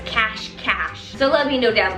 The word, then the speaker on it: Cache Cache: It's cache cache. Y'all told me that it's actually pronounced cash cash.